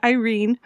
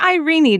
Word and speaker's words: Irene: This is a fairy tale in which a princess named Irene, or Irene, depending on where you are in the world, because the audiobook narrator might pronounce that differently.